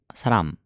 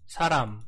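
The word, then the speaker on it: 사람: ですね 1 韓国語で人はサランサランと発音します死者の発音を聞いてみるとサロン saran saran saran saran 3 saran saran saran saran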